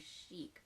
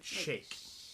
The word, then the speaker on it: chic: This is about we used to say chic, but that's wrong. Or is it just because we're not British? They pronounced it shake.